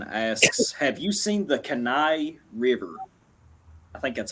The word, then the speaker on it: Kenai: Second Horizon asks, have you seen the Kenai River? I think that's how you pronounce it. Kenai, yeah, the Kenai River.